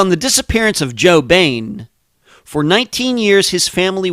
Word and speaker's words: Boehm: Little Joe Boehm, and yes, that's how you pronounce it, B-A-N-E, like Batman's enemy.